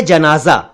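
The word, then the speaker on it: जनाज़ा: एक शब्द है जनाजा। जनाजा शब्द में पहले जा के नीचे नुक्ता नहीं है, दूसरे जा के नीचे नुक्ता है।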